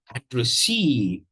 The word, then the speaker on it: addressee: Discuss the pronunciation of this word, addressee, and you have here, a primary and a secondary stress.